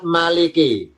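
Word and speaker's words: مالك: Maliki mimnya fathah. Maliki maanya panjang. Maliki ya maaf ya. Maliki. Maliki artinya ditambahi yang yang memiliki Maliki artinya yang memiliki. Tulisan Maliki. Kalau tulis latinnya Maliki. Maynya panjang, huruf A-nya doble.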